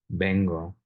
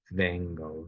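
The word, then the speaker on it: vengo: the list is that the written letter V is always a b sound so bengo is always pronounced bengle U it's not Bango V it's a b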